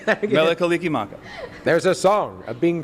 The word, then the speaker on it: Mele Kalikimaka: Mele Kalikimaka. How do you say that again? Mele Kalikimaka.